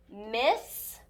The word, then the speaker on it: miss: going to use caution we will pronounce this word miss with one s sound at the end it